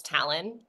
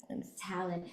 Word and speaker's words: Talyn: And then talon, you can think of like an eagle's talon. That's how Yeah. you pronounce it. It's talon. Talyn.